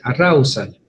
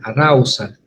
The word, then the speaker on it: arousal: algunos manuales o textos, que es el arousal, se dice, arousal, ¿sí? La O la pueden pronunciar como una A, arousal, ¿sí?